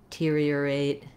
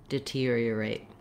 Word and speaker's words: deteriorate: So just knowing that the basic sound of that stress syllable is ear, you can build from that. Ear, tear, deteriorate, deteriorate.